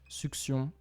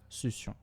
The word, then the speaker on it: succion: We'll leave succion be, as it can be pronounced both succion and succion.